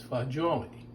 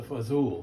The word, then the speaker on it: fagioli: that when he made pasta fagioli, the correct pronunciation is fagioli. Okay, he asked a lot of Italians, and that's what they said. And I know that's what it is. Now, you hear pasta fazool.